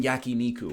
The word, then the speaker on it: yakiniku: just in case Corey's watching, because I know he's a stickler for the traditional pronunciation. I'll go out for some yakiniku or something like that.